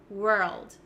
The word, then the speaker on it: world: you could do is break down the word and say were first and then to get the L Sound were old maybe you can add an almost like an a sound like saying the word all all were old world world and try to get it faster and faster and that way it's gonna sound more and more native and you'll get better at transitioning from R to L okay we're old we're